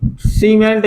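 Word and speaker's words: cement: means का हो सीमेंट देखो सी के बाद का आओ इ तो सी को उच्चारण का निकलो सा निकलो ना सीमेंट समझ में आ रही है बात सीमेंट मींस सीमेंट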